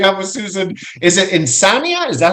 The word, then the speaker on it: Insania: Is it Insania? Is that how it's pronounced? Insania.